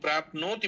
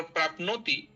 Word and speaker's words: प्राप्नोति: बारे में तो जब प्राप्नोति बोलना है अगर प्राप्ननोति ऐसा आप बोलेंगी तो न में लगा हुआ ओ कार है और जो ओ होता है वो दीर्घ वर्ण होता है तो उसका दीर्घ ही उच्चारण करें प्राो तो नो